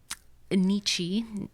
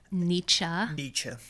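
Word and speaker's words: Nietzsche: the dark side I guess of people um Nichi is that how you say his name nietzsa okay the philosopher um who basically said our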